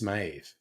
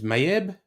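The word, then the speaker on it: Méabh: This is Maeve. But yeah, you wouldn't think it's Mayeb.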